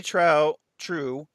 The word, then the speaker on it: Trieu: Lady True, and because it's spelled like Trieu. So Lady Trieu and her little mini me in the form of Bian.